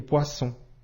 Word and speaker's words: poisson: le S poisson ici le double s entre deux voyelle i ou o se prononce bien comme le son ce autre exemple cousin ici